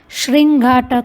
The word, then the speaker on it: श्रृंगाटक: लिए संस्कृत शब्द है श्रृंगाटक हक तो यहां पर ध्यान देना है श्रृंगाटक का ऐसा उच्चारण करना है और कारण तो पुर्लिंग